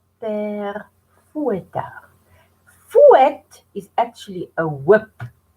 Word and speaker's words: Père Fouettard: And the second one is Père, now listen to the pronunciation, Père Fouettard. Père Fouettard.